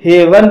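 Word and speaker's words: heaven: हेवन, हेवन शब्द में भी दो कॉन्सोनेंट के बीच में ई ए आया है, इसलिए यहां पर ई ए का उच्चारण ए होगा, इसलिए इसे हेवन पढ़ा जाएगा और हेवन मींस होता है स्वर्ग।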